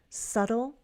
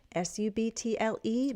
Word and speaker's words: subtle: Subtle might be a new word. You put it in mevo ca. s u b t l e, b is silent.